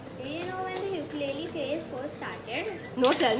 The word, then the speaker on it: ukulele: Actually, another fun fact, it's actually pronounced ukulele.